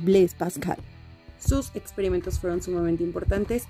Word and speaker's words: Blaise Pascal: Y por último, estamos acostumbrados a decir Blaise Pascal, lo cual es un error porque el nombre es francés. Su pronunciación correcta es Blaise Pascal.